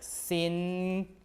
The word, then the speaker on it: singan: So at first it was pronounced like singan like this. S and then with a g and then gan, right?